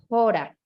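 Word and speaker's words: ὥρα: Pero hay otra palabra que si tuviera el espíritu fuerte, como una coma invertida, se pronunciaría jora, ¿cierto? Jora, como una jota suavecita.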